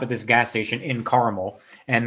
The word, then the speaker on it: Carmel: We stopped at this gas station in Carmel, and the guy at the gas station kept pronouncing it caramel. It's like, you're in Caramel, New York. I'm like, no, motherfucker, it's Carmel. There's no goddamn A.